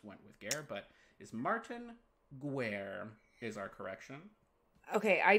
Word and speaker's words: Martin Guerre: It is Martin Guerre. Guerre is the French word for war, which I did know,